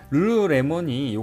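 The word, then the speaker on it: lululemon: 힘든 캐나다 브랜드 입니다 브랜드 이름의 엘자가 3번 연속으로 나와 사실 발음하기도 쉽지 않죠 이 회사의 창업자 테니스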